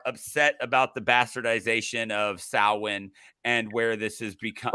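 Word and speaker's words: Samhain: become by the way we finally get the correct pronunciation yeah as as much as I love Donald Pleasence like he is legit one of my favorite actors um he says Sam Hayne yep and um Salin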